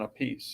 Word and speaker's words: Appice: So they settled on Appice.